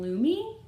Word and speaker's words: Loomy: She is a Lottie doll Happy Bath version Loomy, which rhymes with gloomy.